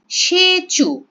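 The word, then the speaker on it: Tshechu: রিলিজিস festive সেচু যেমন ওদের তোমার ভাষার নামের মধ্যে ডি এর উচ্চারণ হয়নি এখানে ফেস্টিভালের নামের মধ্যে টি এর উচ্চারণ হবে না সেচু মেন ফিচার স্পেশাল টাইপ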